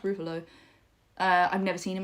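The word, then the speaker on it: Ruffalo: and I think Mark I think it's pronounced rufalo uh I've never seen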